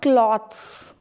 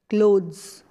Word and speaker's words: clothes: photography now this one these are not clothes and not cloths these are clothes clothes we call it clothes my grandparents peer